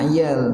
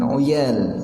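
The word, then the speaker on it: عيال: Nah, iyal ini iyalun bikasril ain, ya, jangan dikasrohkan. Jadi bacanya ayal, bukan oyal, ya, bukan atau lagi ayal, tidak.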